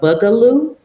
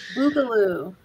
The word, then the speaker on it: Boogaloo: Is it the Bugaloo? Boogaloo. The Boogaloo. I was going to say it like that the second time.